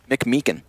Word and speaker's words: McMeekin: Is that how you pronounce his last name? Yeah. McMeekin? McMeekin.